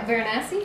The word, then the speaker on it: Varanasi: Geoff in Venice is the first part, and Death in Varanasi is the second part, and... Now, Varanasi?